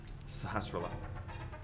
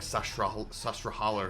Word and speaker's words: Sahasrahla: Okay, this guy, I always mispronounce his name. Sahasrahla. But when I was a kid, I called it like Sasrahala or something like that.